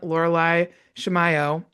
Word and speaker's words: Laureli Shimayo: I am so excited to introduce you all today to a friend of mine, Loralai Shimiao. Did I pronounce it right?